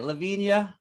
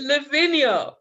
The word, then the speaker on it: Lavinia: I say it right Lavia did I finally get it I forgive you you could call me whatever tell me how to say it how do I say it's Lavinia Lavinia yeah all right man